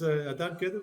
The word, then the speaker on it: Adan Kedem: It's Adan Kedem, like it's spelled.